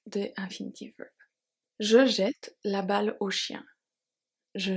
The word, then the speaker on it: jette: We have je jette. So, je jette, E-T-T-E. Pronounce E now that it's before two T.